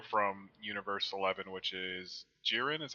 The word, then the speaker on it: Jiren: war the Warrior from Universe 11 which is jiren is how you pronounce his name Mike SE super right um